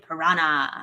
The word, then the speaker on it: piranha: is it the red-bellied piranha? piranha? Piranha. You know that's the proper way to say it. Piranha. Piranha. You got to roll the R. Piranha. Piranha, and then it's a nya.